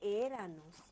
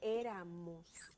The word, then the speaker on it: éramos: Éramos, no se dice éranos, se dice éramos.